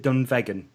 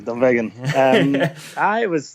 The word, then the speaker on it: Dunvegan: growing up in, I'm going to screw the pronunciation up, is it Dunvegan? Yeah, that's it, exactly. Dunvegan.